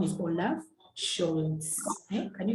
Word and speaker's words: Scholz: This S, we shall see probably in our next lesson, that is when we shall learn the alphabet. We shall see why we pronounce this as a she sound.